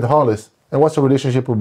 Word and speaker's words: Rolles: them how you what you named your son hollis i h-o-l-l-i-s which is exactly how your name is pronounced announced but you spelled out so you